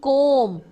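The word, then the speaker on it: comb: हूं कौन करता हूं सी ओ एम बी कोम कोम दैनिक तंगी करता हूं बीच में साइलेंट होता है बोलते हुए लिखते हैं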